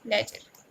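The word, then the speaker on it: ledger: लेजर का जो डी रहता है ना वो साइलेंट रहता है, हम उसका प्रोनाउंस क्या करते हैं? लेजर, ठीक है।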